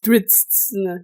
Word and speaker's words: Drizzt: So it's Drizzt.